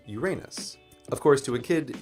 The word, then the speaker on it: Uranus: There is a solution to this problem, the alternative pronunciation of the name, which goes Uranus. And most scientists in public roles do use this pronunciation. But for me, Uranus is still problematic.